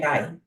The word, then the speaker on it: Dayirai: Okay, so the actual pronunciation of my name is Dayirai. So the D sound is a quiet, a soft D. It's a Shona name originating in Zimbabwe. So Okay. Dayirai, yes.